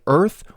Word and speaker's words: Oerth: This occurred on the world of Oerth in the Greyhawk setting during the year 203 CY, or Common Year. By the way, despite being spelt O-E-R-T-H, most pronunciations sound more like Earth or Earth, but I'm